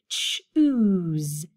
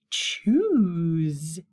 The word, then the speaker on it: choose: we had this one ch says and then that s sounds like a z z that tickled my lips choose choose this one is an